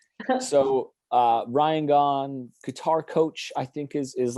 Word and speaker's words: Gaughan: right away, and also knew that it was Gahan was actually how you're like supposed to pronounce it.